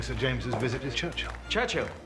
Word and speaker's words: Churchill: Churchill. That's how you say it, all together like that. I'd heard church and hill, but couldn't find either.